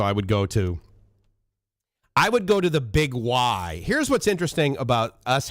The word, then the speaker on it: Big Y: grew up called the Big Y. First of all, you look at it and you're like, okay, Biggie, right? I mean, B-I-G-Y. How do you pronounce that? Biggie, but no, it's Big Y.